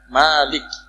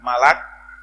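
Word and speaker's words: مالك: al-fatihah yang benar itu cara bacanya maalik bukan malah karena kalau malah jadi malaikat bukan juga milkun karena artinya jadi kepemilikan bukan juga mulkun Karena kerajaan Malik Malik itu adalah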